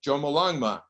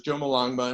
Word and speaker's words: Jomolungma: And I've underlined 3 syllables, which contract into Jomolungma. And what the Tibetan language does, instead of using acronyms, they shorten the syllables. And so it becomes Jomolungma, and this is the name of the goddess.